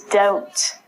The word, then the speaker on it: doubt: debt next one is doubt it looks like double - it's not the batter it's doubt when you doubt something